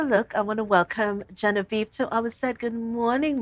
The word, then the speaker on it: Genevieve: Genevieve Williams is here with us today, but as I like to call her, Genevieve, because I prefer the French pronunciation.